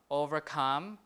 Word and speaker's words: overcome: But for prefix verbs, for prefix verbs, the prefix is pretty important. So the stress will be not important. So the stress will be on the root. Overcome, withstand, like that.